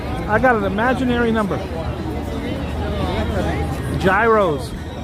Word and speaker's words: gyros: got an imaginary number Gyros guys the pronunciation is hero hey girl you're playing